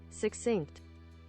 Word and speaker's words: succinct: Sock with 2 C's. We've had our first unexpected reunion on your street. Many of our best laid plans were imagined here. Wait 1 second. Succinct. Succinct? That's how you say it?